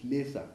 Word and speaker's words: Lesa: But Lesa actually is Lesa, L-E-S-A.